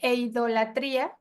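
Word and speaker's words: εἰδωλολατρία: Entonces, y en en el Nuevo Testamento es una palabra griega que se utiliza comúnmente para referirse a la idolatría y se pronuncia eidolatría.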